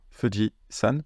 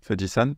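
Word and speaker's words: 富士山: le mot fudi alors je sais que quand on commence la prendre C japonais on peut avoir l'impression que fujitan c'est que on appelle le mon Fuji avec un monsieur honorifique moi aussi je croyais ça au début mais non en fait c'est que San c'est une lecture du kanji Yama et c'est pour ça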